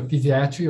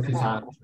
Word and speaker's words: physiatry: She feels strongly about pronouncing it as a physiatry, but I know a lot of people pronounce it as physiatry.